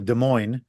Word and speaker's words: Des Moines: I lived in Chicago for a bunch of years, and so you mentioned Iowa, Des Moines. The DES is how it's spelled, but it's sort of like a D sound.